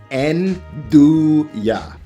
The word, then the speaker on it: 'Nduja: Now, Nduja, that word, that's pronounced Nduja.